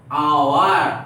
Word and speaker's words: hour: एन, क्योंकि H consonant होते हुए भी, कॉन्सोनेंट होते हुए भी उसका प्रोनाउंसिएशन क्या हो रहा है? ओ, आवर, आवर, honourable, आवर, isn't it?